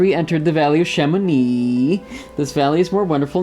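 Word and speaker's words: Chamonix: doodling soon after we entered the valley of Shamone this Valley is more wonderful and Sublime but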